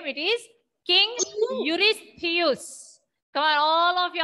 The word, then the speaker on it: Eurystheus: How do you pronounce the name? It is King Eurystheus.